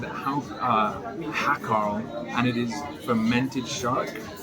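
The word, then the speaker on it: hákarl: I've come to a bar I don't remember the name of, and I've ordered what I believe is pronounced haucatl. That is a word that looks like it should be said hakarl, and it is fermented shark.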